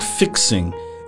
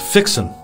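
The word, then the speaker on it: fixin': of speaking it's not fixing it's pronounced fixen with no G on the end uh when you're fixing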